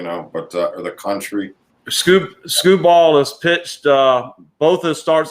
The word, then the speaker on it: Skubal: I know that's not how you pronounce it, but that's what I'm calling him. Tariq Skubal is actually, I'm calling him skee ball for those of the old boardwalk pavilion games, you know, roll the ball.